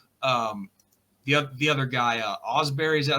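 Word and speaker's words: Ausberry: watts and uh um the the other guy Osberry is that how you say his name yeah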